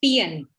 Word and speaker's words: peon: the bell correct okay it's pronounced as pian not beyond it's pn thank you